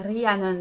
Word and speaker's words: Rhiannon: Et plus précisément, on prononce son nom comme il faut en gallois, qui est Rhiannon, si je ne me trompe pas.